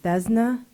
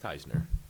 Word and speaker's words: Teisner: And the last card will be from Matt, and forgive me, I'm having a hard time reading this, but is it Thesna? It's Teisner. H is silent.